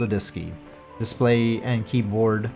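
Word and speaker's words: DSKY: using a numeric display and keyboard called a diski display and keyboard pronounced diski located on panel 2 and in the Leb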